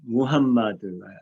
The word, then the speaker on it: 무함마드: 근데 아랍어에는 오 발음이 없어요. 에 발음도 없고 아랍어 모음은 아주 단순해 4개밖에 없습니다. 아, 이, 우, 으예요. 아, 이, 우, 으. 그러니까 우는 있는데 오는 없어요.